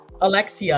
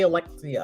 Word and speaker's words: Alexia: your girl leex uh can you please say her name right like come on that's how you say it Alexia you don't have to like put the syllables and stuff just say Alexia I it's Alexia and Alex Alexia Alexia yeah